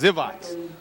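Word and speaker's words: Grzywacz: zat that's a great name it's spelled gr z y w a CZ and they say and and he says zivat yeah they I got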